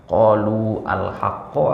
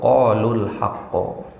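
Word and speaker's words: قَالُوا الْحَقَّ: Qalu al-haqqo atau qalul haqqo? Kalau enaknya didengar tuh gimana? Qalu al-haqqo atau qalul haqqo? Qalul haqqo. Ya, berarti itulah dia bacaan yang benar.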